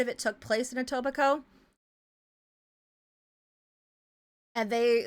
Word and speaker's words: Etobicoke: It's pronounced Etobicoke.